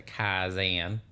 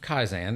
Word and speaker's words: Kaizen: I put a little Texas twang on it, the Kaizen. But the concept of Kaizen is something that I